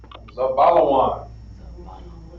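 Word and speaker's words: זבולון: Now here, Zebulon is going to be pronounced Za, Ba, Zabalawan. It's going to be pronounced Zabalawan.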